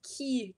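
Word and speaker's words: quay: pronounced with a q this is pronounced key key demographic even though it's spelled q-u-a-y for boaters collectively are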